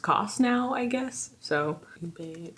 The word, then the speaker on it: ube: So ube pronunciation.